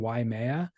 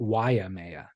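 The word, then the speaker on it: Waimea: down the wrong path I have been mispronouncing yeha my entire life and here on the podcast probably thousands of times why it's not why it's not why Maya it's why Maya why Maya yeah so I was adding an extra a I yeah I was adding an i and an extra syllable and saying why Maya it's just why why Maya yeah why Maya say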